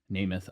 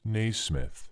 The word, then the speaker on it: Naismith: Namath. I don't know how to pronounce his name. It's Naismith. We'll put in how to pronounce this name right here. James Naismith.